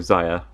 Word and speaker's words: Zia: baby blue herself and Zia or Zaya I like to pronounce it Zia who was a character